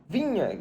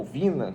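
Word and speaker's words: Viña: Vamos começar falando do Matias Vinha, jogador, ou Vina, como você quiser pronunciar.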